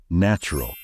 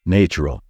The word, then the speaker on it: natural: to think of course most of you might think that the right pronunciation is natural because of the word nature however even though nature is pronounced that way this word should be pronounced differently the correct way to say it is natural we never say natural it's just plain wrong you're a natural born